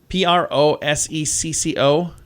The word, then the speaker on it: prosecco: cheese or a meat or something isn't it p-r-o-s-e-c-c-o prosecco yeah it's a wine is it i